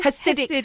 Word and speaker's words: Hasidic: Hasidic school.